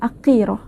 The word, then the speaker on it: Aqirah: aqirah aqirah aqirah boleh Panggil akirah ataupun mana-mana sahaja bermaksud Mulia ataupun